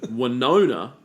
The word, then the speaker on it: Winona: Winona Ryder yes and Winona uh rhymes with Boner sure so I would